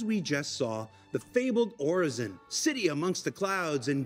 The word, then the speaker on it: Orison: So it is pronounced Orison, by the way. That's how you pronounce it. I don't know what the official Star Citizen pronunciation is, but it is Orison. It's just another word for prayer, which I think Pedro